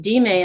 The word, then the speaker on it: dime: a 10-cent coin while that same d-i-m-e is pronounced d-may in spanish and means give me literacy